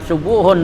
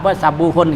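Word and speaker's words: سبوح: Nah kecuali katanya as-subuhu wal kudusu, kalimat subuhun dan kudusun itu huruf pertamanya dhammah katanya gitu. An tasbih yakunu bitaat ya, subuhun tuh painal dhamma fihima aksaru, karena bacanya subuhun dan kudusun pakai dhamma huruf pertamanya itu katanya lebih banyak dibaca daripada sabuhun gitu ya.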